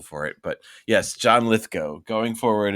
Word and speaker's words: Lithgow: one of them so it's litho not Lithgow oh I see lith go go go yes so liow like cow yeah and then Steve